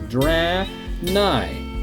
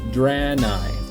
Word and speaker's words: Draenei: So here it is, Draenei, not Draenei, not Draenei. It's Draenei.